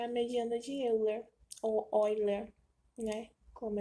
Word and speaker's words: Euler: geometria plana é a mediana de Euler ou vai ler né como é que chama como chama e